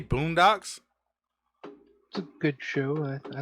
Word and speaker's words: Boondocks: been saying it wrong Boondocks it's a boom in the docks yes okay yeah I